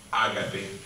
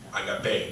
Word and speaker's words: agape: latina della parola greca Agape o oppure agapè Dipende come la pronunciamo che era la parola